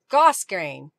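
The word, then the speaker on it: grosgrain: gr Goss G grain apparently the r is silent gos grain grow grain Bonnie says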